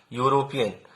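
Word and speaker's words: European: यूरोपियन, तो यूरोपियन Hindi में जब लिखेंगे उसका मन में उच्चारण करेंगे यूरोपियन, तो ऐसे लिखेंगे यूरोपियन, तो य आया तो इसका मतलब व्यंजन है तो इसके पहले ए।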